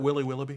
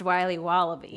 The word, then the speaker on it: Wiley Wallaby: compliment can i have a piece of that willy willoughby wally wibbly miley's wallabies wallaby wallies will be wobbly it's pronounced wiley wallaby well it's very good it's called wiley wallaby